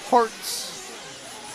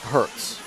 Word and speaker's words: Herts: But I think if you search for H E R Ts, it's pronounced Harts, but it's looks like Herz.